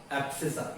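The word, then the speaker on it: abscissa: एब्सिसा, ये सी silent रहता है.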